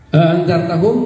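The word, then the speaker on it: ءَأَنذَرْتَهُمْ: A'anzartahum boleh dibaca hamzah dua-duanya dibaca. A'anzartahum. Riwayat yang lain dengan hamzah kedua diganti dengan alif. Jadi apa bacanya? Anzartahum. Mad bertemu mati jadi melazim.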